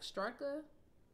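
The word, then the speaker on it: Straka: omaha native uh brandon is this last name like strucka s-t-r-a-k-a that's how i pronounced it he said he was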